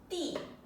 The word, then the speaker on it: 地: That's the 4th tone. Correct. D. And that means earth. Okay. So Tian Di, heaven and earth.